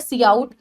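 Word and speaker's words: cout: input फिर आता है सीआउट इसको हम सीआउट प्रोनाउंस करते हैं ये एक ओ स्ट्रीम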